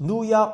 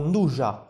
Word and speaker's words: nduja: Finally, I want to mention nduja, pronounced nduja or nduja, your choice.